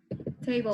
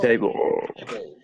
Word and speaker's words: table: Table. Table.